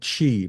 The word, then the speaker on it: Qi2: wireless charging uh standard I always uh forget how to pronounce that correctly so I think I think they call it Chi but the chi okay I knew I